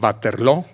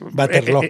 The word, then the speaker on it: Waterloo: Y decide que va a enfrentar a los ingleses cara a cara en Waterloo. Así dicen los belgas. Waterloo. En inglés dicen Waterloo, Ajá. porque pronuncian como en inglés.